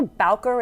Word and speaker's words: Bowker: the local Ad Agency I think Heckler balker is how you say it maybe and they created the